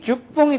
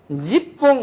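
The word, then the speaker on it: 十本: 주홍이 주뽕이 되는 거죠. 주뽕 또는 지뽕 이렇게도 돼요.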